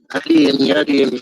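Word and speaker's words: Adeyemi: I don't know how to say your name. It's Adimi. I can't do it. How do you say it? Adiyemi from Nigeria.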